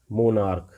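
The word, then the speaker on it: monarch: For example मोनार्क, मोनार्क मतलब प्रजातंत्र, समझते हो, प्रजातंत्र सम्राट हुआ करते हैं, मोनार्क मतलब सम्राट।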